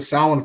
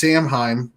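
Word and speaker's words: Samhain: all going all the way back to the sound Festival it's not pronounced samheim vessel by the way folks in case you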